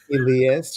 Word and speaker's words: Elias: Well, you know what, Tamara, I just want you to know that I get Elias, Elijah, Alias, Eliza, uh, Eliza, Elias. Elias, which is really the correct pronunciation of my name.